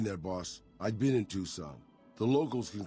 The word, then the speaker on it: Tucson: It's pronounced Tucson, damn it. Tucson.